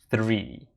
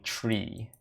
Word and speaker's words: three: One of the most common words I had trouble pronouncing was the number 3, because I had a hard time working in the H in 3. Like, it was hard for me to pronounce 3, three. So I ended up saying tree, about $3.50 kind of deal.